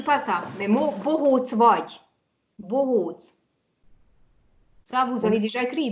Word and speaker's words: bohóc: Bohóc. Ça, vous avez déjà écrit bohóc. Oui, je me souviens plus trop comment ça s'écrit, je dois te dire. Donc, B-O-H-O, accent long, c'est bohóc. Et Ah.